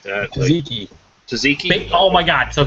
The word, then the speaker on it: tzatziki: yeah, the other 2 I saw were the cinnamon bun and I don't even know how to pronounce it, like terazaki or some shit like that. Tzatziki.